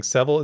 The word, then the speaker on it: Sevil: JN, my lore savior, put out a tweet saying Sevil is pronounced like devil. Just swap the D with an S.